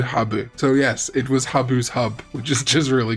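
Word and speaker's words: ハブ: snaking wires but also in japanese herb is pronounced habu and habu refers to certain venomous snakes in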